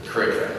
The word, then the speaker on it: Kariega: From there, I traveled to Kenton-on-Sea to start at Kariega Game Reserve, or Kurika is how they say it.